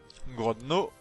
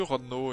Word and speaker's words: Grodno: Grodno. Je crois que d'ailleurs ça se prononce que Rodno, le G ne se prononce pas il me semble.